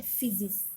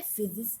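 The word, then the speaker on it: φύσις: Physics एक Greek word है जिसको प्रोनाउंस किया जाता है फिजिस.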